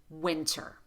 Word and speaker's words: winter: When you have the letters NT together between vowels in a single word, pronounce the T as a true T.